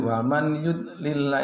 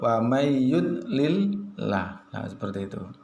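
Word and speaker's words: وَمَنْ يُضْلِلِ: wamayyudlillah, tidak boleh \R waman yudlillah itu salah, yang betul wamayyudlillah berikutnya mayyaqulu, membacanya mayyaqulu \R bukan man yaqulu, itu yang salah yang betul bagaimana?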